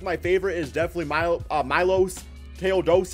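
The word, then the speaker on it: Miloš Teodosić: favorite is definitely mil Milos ta doich is I think how you say it from he's from Europe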